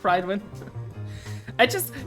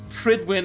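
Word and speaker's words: Prydwen: Oh yeah, you know, the Fallout airship called Pridewind.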